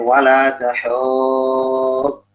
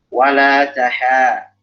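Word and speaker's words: ولا تحاضون: Dan ingat, di sini tipis, ya, jangan hawab. Kadang orang bacanya wala tahub. Kenapa jadi tebal? Karena ada huruf pot. Jangan kepengaruh huruf pot. Jadi yang pakai huruf tebal, taruhin huruf tipis. Wala taha. Jangan wala tahu.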